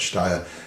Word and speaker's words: Steyr: People call it Steyr, all kinds of different ways, but I think it's supposed to be like Steyr. It's a place in Austria, a town in Austria.